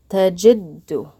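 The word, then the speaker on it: تجدّ: So we're going to pronounce it tajiddu. What we end up doing is pronouncing that dal twice.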